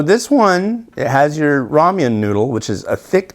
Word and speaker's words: ramen: one it has your Raman noodle which is a thick chewier noodle it's not Ramen it's Raman um and it's actually I was told that it should be like Roman or Raman or something like that but anyways